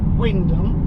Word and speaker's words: Wymondham: Pronounce things very odd, not as odd as they do in Norfolk, where you've got Wyndham, which is spelt Wymondham, Haysborough, which is spelt Happisburgh.